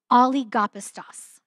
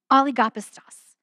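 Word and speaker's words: ὀλιγόπιστος: And that phrase, little faith in the Greek is this really fun Greek word that is oligopistos. Isn't that fun? Oligopistos. The only reason I can pronounce these well is because there's a feature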